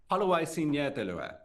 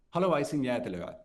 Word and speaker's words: Haluaisin jäätelöä: Haluaisin jäätelöä. That's how you say it in Finnish. How? Haluaisin jäätelöä. Haluaisin jäätelöä.